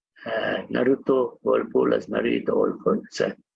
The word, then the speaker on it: Naruto: The Naruhito Whirlpool, Naruto Whirlpool, the Whirlpool called, I'm sorry, the spelling pronunciation is wrong.